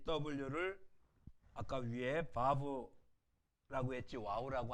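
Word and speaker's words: וָו: W가 아니라 V로 바꿔야 돼요. 그렇죠? 바브, 바브. V로 바꾸셔야 됩니다.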